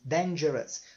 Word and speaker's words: dangerous: Dangerous, dangerous. Só presta atenção no final aqui. A pronúncia é us, tá? Dangerous.